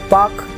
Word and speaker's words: Palk: India और श्रीलंका की dividing line है पाक जल संधि, जिसको पाक यानी PALK, इसकी स्पेलिंग है PALK, जिसको पाक जल संधि कहा जाता है, यानी पाक जल डब्ल्यू मंडल।